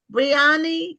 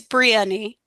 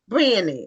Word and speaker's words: Brionni: Um, see, do you do you pronounce your name? Briani. Is that how it's pronounced? It's Brieni. Brieni.